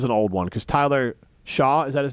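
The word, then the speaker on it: Shough: Tyler this is an old one cuz Tyler Shaw is that his name how do you say his name Tyler Shuck Shuck it doesn't look like that at That's H O U G H. Of course, Shuck.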